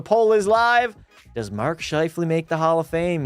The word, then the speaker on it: Scheifele: It's Scheifele. Yeah, I butchered it, chat.